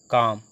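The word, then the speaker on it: calm: तो वाक, डब्ल्यू ए एल के, इसको हम एल साइलेंट रखेंगे, वाक, वाक, डब्ल्यू ए के, वाक पढ़ लें, एल साइलेंट रह रहा है। काम सी ए एल एम काम, हाफ एच ए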